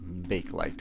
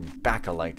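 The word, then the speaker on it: Bakelite: light is sort of like bake light or backa light as it's more properly pronounced but honestly you've got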